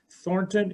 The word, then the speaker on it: Thornton: to me is follows thornton is spelled t h o r n t o n like thorn and ton in one word dot spain like the